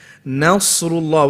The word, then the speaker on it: نصر الله: Nasrullah, where does it become heavy? Sad. So up until the sad, you shouldn't be making your mouth into an oval shape.